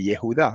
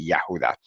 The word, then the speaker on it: Yahudá: Después de la Yod va una A. Entonces lo mismo debería pasar con el nombre de Yehudá y debe decirse Yahudá.